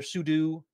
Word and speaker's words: sudo: If you're not familiar with what pseudo is or sudo, people pronounce it different ways.